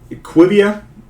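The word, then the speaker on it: IQVIA: They have been in what we like to call a nice little pharmaceutical company, IQV, Equivia Holdings, I believe is the way it's pronounced.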